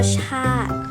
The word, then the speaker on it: ชาติ: ออก เสียง อีก นะ คะ เช่น คำ ว่า ชาติ เรา จะ ไม่ ออก มา ชาตรี นะ คะ